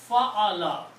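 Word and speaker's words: فَعَلَ: together like this, and we put one fataha, one zabar on each of them for the purpose of pronunciation. So fa'ala. Fa'ala means he did.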